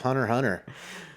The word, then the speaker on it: Hunter x Hunter: dork you realize that that X is actually silent which I think which